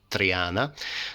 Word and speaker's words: Triana: So in English language we pronounce it as Triana, and in the Latin, translated in Latin, then was put as Trianae, so Cattleya of Triana, but should be present with an I at the end, so should be written